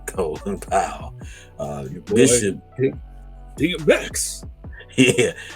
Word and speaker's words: Colin Powell: Uh some people call him Coonan Powell, but I'm gonna say it right, Colin Powell.